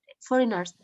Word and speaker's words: foreigners: In English, when you have G and N in the same syllable, G is silent. So always remember foreigners.